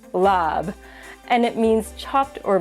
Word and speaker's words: larb: The common spelling of this dish is L A RB, but it is not pronounced larb.